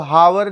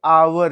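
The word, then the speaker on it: hour: अब हावर लिखेंगे तो एच ही निकलेगा, तो क्या ए ही भरेंगे, लेकिन ये हावर नहीं है, ये आवर है। क्या है, आवर, इसका प्रोनाउंसिएशन होता है आवर। मतलब एच यहाँ पे क्या है, साइलेंट है।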